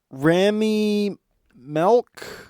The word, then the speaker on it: Rami Malek: So it's Hayden Panettiere, Rami Malek, I think is how you pronounce his name.